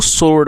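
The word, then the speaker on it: sword: दोस्तों, इसमें जो डब्ल्यू है, वह साइलेंट है तो इसको सोर्ड पढ़ेंगे।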